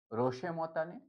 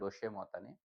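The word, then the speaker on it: roche moutonnée: একটা হচ্ছে রশে মতানে। এটা হচ্ছে ফরাসি টার্ম। যেটাকে আমরা উচ্চারণ বাংলায় উচ্চারণ করতে পারি। রশে মতানে। ঠিক আছে? রশে মতানে বলি।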